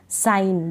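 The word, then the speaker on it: sign: तो इन स्पेलिंग्स में जी को हम नहीं पढ़ रहे, क्योंकि नियम क्या बता रहा है कि लास्ट में जी एन हो तब हम जी को नहीं पढ़ते हैं, जी का उच्चारण नहीं होता।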